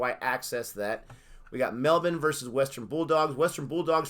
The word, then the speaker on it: Melbourne: We say Melbourne, but Melbourne is how you pronounce it. So you ignored the R.